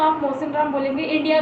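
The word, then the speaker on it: Mawsynram: आपका मेघालय है, ठीक है, मेघालय में आपका मोसिनराम, आपका एक जगह का नाम है मोसिनराम। क्या है जगह का नाम, मैं दोबारा से आपको बोलती हूँ, मोसिनराम। आपकी स्पेलिंग देख लीजिए आप।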